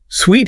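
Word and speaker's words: suite: Sweet however refers to a set of connected rooms often in a hotel. Ah the fancy hotel room usually. Yeah. The pronunciation is sweet rhyming with sweet like sugar.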